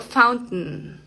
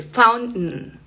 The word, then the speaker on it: fountain: Eh, en la palabra eh, por ejemplo, fountain. Fuente, una fuente. Fountain.